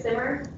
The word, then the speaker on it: Samar: Okay, just wanted to clarify first, my name is Simmer. I know it's spelled like Samar, but it's Simmer.